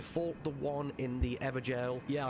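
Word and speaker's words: Evergaol: the one in the evergel yeah i know i said it right i said ever jail holy crap thank you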